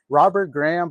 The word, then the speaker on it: Robert Graham: Robert Graham blazer.